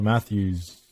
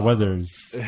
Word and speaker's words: Weathers: for Arnold Schwarzenegger's or uh Stallone's or Carl Matthews I don't know who that is but yeah whatever Carl Weathers yeah I know I said that last name